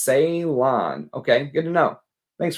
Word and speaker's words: Ceylon: It's pronounced Ceylon.